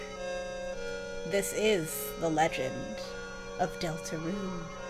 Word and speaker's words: Deltarune: This is the legend of Deltaroon. No hyphen. Separate space. That's the correct pronunciation apparently.